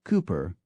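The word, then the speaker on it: Cowper: becomes Woodhouse the poet William cper becomes Cooper kaai College Cambridge is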